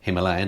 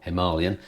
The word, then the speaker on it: Himalayan: BMWs GS 310 and the Himalayan or mammalian as it's correctly pronounced from Royal Enfield so